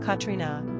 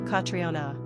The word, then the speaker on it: Catriona: Number of syllables, 4. Ranking popularity, not applicable. Pronunciation, Catriona, Catriona.